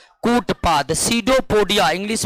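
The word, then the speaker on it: pseudopodia: करते हैं कूट पाद सीडो पोडिया इंग्लिश में क्या कहते हैं सीडो पडिया कहते इंग्लिश में सीडो पडिया कहते हैं और सीडो पडिया में पी साइलेंट रता है अमीबा में भोजन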